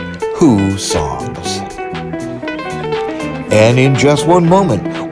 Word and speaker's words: Hussong's: first opened in 1892 and yes it is pronounced who songs and in just one moment we'll return to those thrilling days of yesteryear as a beach reporter meets that mexican icon who songs cantina but first if you like give me